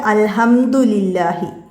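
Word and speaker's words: الحمد لله: ഇവിടെ ഈ ലാമിന് കസറ, ഇതാണ് ഇവിടെ നോക്കിയത്, അൽഹംദുലില്ലാഹി. മനസ്സിലായില്ല, ഇവിടെ ഈ കസറയാണ് നോക്കുക, ലില്ലാഹി. അതുകൊണ്ടാണ് ഇവിടെ നേർപ്പിച്ച് പറയുന്നത്. ഇത് ഉദ്ദുല്ലാന്നല്ല, ഇവിടെ ലീ വന്നിട്ടുണ്ട്, അതുകൊണ്ടാണ് അതങ്ങനെ വന്നത്.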